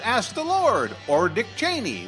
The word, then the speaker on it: Cheney: Now, if you believe that Fisher's zany, just ask the Lord, or Dick Cheney, that's Cheney, if you say it like Chris Matthews, that TV hardball fella.